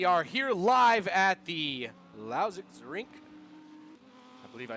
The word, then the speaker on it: Lausitzring: day everybody we are here live at the lousix rink i believe i said it right that time